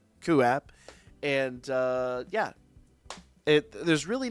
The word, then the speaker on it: QooApp: It's spelled QOOAPP, QApp.